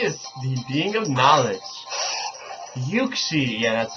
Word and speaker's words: Uxie: Uxie, yeah, that's how you say it.